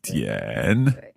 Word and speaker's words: 点: So third tone for this one, 点.